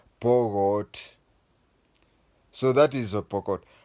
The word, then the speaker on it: Pokot: And many are called Pokot, but they pronounce it as Pogot.